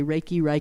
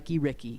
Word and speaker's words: Reiki: And speaking of pronouncing things, and you're right, you can say Reiki, Ricky. It doesn't matter.